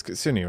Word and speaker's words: Kitsune: Or Kitsune? How do you pronounce that? It's Japanese, it's Kitsune, right?